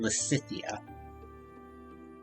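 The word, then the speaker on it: Lysithea: which i'm just realizing i'm also mispronouncing her name very slightly there i suppose it's supposed to be lacithia you know what actually i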